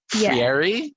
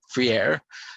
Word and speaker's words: Freire: I think it was, I think it was what, Paulo Freire? Yes, it's Friere. Freire.